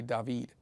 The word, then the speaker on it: David: was making her say David which is the Spanish pronunciation of David and I was like